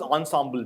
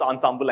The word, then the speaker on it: ensemble: so but the word the way people pronounce ensemble i was guessing it is french and i'm going with it right so it's it's not ensemble but ensemble so french has different pronunciations it's weird fine uh